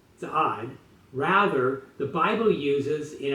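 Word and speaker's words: צעד: The Hebrew text of the Bible in Isaiah 63:1 does not use the word for marching, which is za'ad, with a D at the end, za'ad.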